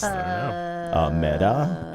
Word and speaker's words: Meta: That's what I always Meta Rhymes with feta.